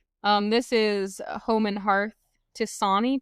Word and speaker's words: tisane: This is Home and Hearth Tisani tea, I think is how it's pronounced. Tisane. Or Tisane if you're American. I'm going to say Tizan.